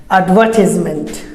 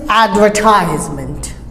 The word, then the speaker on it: advertisement: So British say advertisement. British say advertisement, and Americans advertisement.